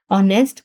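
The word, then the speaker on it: honest: For example H यहां पे silent है हमारे पास क्योंकि ये इनिशियल कॉन्सोनेंट है। ओ हमारे पास वोवेल है ऑनेस्ट गर्ल।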